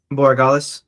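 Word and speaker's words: Borregales: Boragalis.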